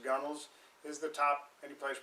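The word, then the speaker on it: gunwale: um point out that the gunnels looks like gun Wells but pronounced gunels is the top any place basically where water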